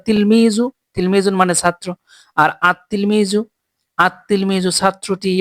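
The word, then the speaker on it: التلميذ: র সিনসিন সদ নুন এই 13 টি হরফের শুরুতে আলিফ লাম যুক্ত হলে লাম হরফটি উচ্চারিত হয় না বরং লাম হরফটি যুক্তালারিত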